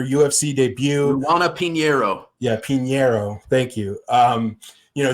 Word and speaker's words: Pinheiro: was making her ufc debut juana pinero yeah pinero thank you um you know she was making